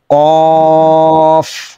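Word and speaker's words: كاف: zipper গোড়া থেকে না জিবার গোড়া থেকে তো কফের উচ্চারণ হবে তার একটু উপর থেকে উপরে জিবার গোড়া না গোড়ার চেয়ে একটু উপরে উপরে তালুতে লাগবে স্পর্শ করবে লম্বা হবে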